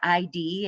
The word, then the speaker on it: id: So if you're having a hard time keeping what the id does, some of you will pronounce it as ID, and it's not, it's actually id.